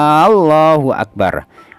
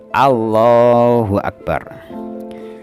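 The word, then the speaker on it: الله أكبر: itu oleh karena itu kita tidak diperkenankan tidak diperbolehkan memanjangkan lafaz apa lafaz Hamzah dari lafaz Allah A Ya A harus pendek Allahu akbar kemudian kita boleh memanjangkan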